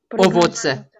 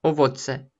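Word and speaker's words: owoce: Дети едят овоцы. Дети едят овоцы. Нет, во-первых, це, а во-вторых, о. Овоцы, овоцы. Дети едят овоцы. Все равно а проскальзывает, но привыкайте, что она даже под ударением все равно о.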